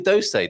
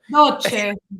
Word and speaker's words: doce: Yeah, Frank's got a different way of saying that, which always makes me giggle. You didn't Doce. say that before. Oh, don't say that. Doce. Yes. Doce, He's only saying that because teacher's here. He says it like an Italian when you're not here, Mia. Dolce.